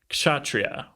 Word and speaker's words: kshatriya: The word is kshatriya. Ooh, well done. Some people might put a little more emphasis on that K.